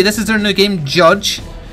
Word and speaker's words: JYDGE: at and today we're taking a look at judge it's felt jyd GE but it is pronounced judge and it's by ten tons limited missus their